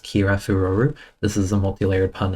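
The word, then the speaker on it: キラフロル: As far as the Japanese name for glamor is concerned, it's pronounced kira furu.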